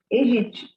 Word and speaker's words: Aedes: caso E também o gênero aedes como como são palavras a gente não pronuncia o primeiro a então o certo é pronunciar Edge é como se não tivesse dois primeiros nessas palavras E também como que